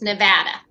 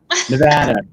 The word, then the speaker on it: Nevada: And first off, it's Nevada. Nevada. I'm sorry. I get it. I get it. We have weird pronunciations out here that somebody came from the West Coast and said it that way, we would know right away.